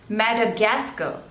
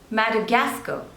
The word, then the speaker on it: Madagascar: luxembourne next is Madagascar Madagascar so there are Force labels and you have to stress on the third one Madagascar Madagascar Madagascar next is